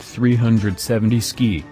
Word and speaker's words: 370Zki: mountains of eastern Idaho the three 70s keep pronounced 370 ski is the end result of asking what would